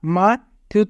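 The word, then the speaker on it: 마트: Myung প্রথমে থাকলে মু, আ মা, থিউত মাঝে থাকলে থ, উ রাসু মাথু, মাথু মানে মার্কেট।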